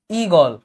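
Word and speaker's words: ঈগল: আমি কিন্তু লেখার সময় লিখি ইগল। কিন্তু আমি যখন মুখে বলি আমি কিন্তু এই দীর্ঘ বা গ এভাবে উচ্চারণ করি না। আমি বলি ইগল। এইযে ইগল আমি যে মুখে উচ্চারণ করতে আমি কিন্তু রসই উচ্চারণ করেছি। ইগোল এবং গোল বলতেছি ইগোল। ইগল না ইগোল বলতেছি।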